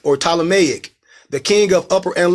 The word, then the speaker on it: Ptolemaic: they be said plutonomy no the P is silent is Ptolemaic or Ptolemaic the king of Upper